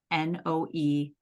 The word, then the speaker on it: Noémie: And her first name is Noémie, Noemie. And the first E in it has a little accent.